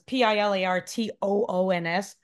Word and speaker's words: Pilartoons: I mean, not that I don't know if people like see it, but it says Pilartoons. It's my name plus tunes. Get it? Rhymes with cartoons.